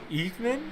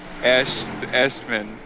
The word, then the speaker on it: Eschman: Is it Eekman? Eschman. Eschman. Yeah, it was a good shot, though, brother.